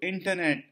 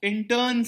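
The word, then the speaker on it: Incheon: from goal 3 of intern strategy this is pronounced as in turn it's a place in south korea intern strategy the interns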